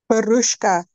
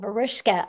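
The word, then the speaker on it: Vruschka: s c h k how do you say that you can unmute baruska oh verushka okay thank you so much what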